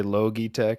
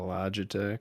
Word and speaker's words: Logitech: Mighty Dan it's like when people say litech instead of Logitech who says litech man